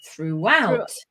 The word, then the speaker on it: throughout: That's a very difficult word for most people to pronounce because you've got a complex consonant cluster here. Is hard, then followed by a r can be very difficult for people.